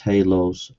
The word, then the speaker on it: halos: Radioactive hallows. Good grief, it's pronounced halos.